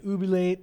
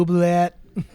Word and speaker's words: oubliette: The I know what oubliette is. I played Yeah. more of the second half of the word is silent. I'm pretty sure. No, that's wrong. It's French, so Sure, that's wrong. oubliette.